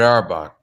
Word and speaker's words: Auerbach: And you know, Red Auerbach.